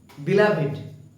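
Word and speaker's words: beloved: উচ্চারণটাকে বিলাপ উচ্চারণটা কিন্তু বিলাভে বিলাভ নয় একচুয় উচ্চারণটা হচ্ছে বিলাভেড লড়ার সঙ্গে দিনটা কাটাল চার সডিং ফর এক্সট্রাভর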